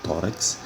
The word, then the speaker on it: tórax: Da mesma forma, a palavra tórax, que se separa com 2 sílabas, a sílaba tônica é a penúltima e ela termina em X.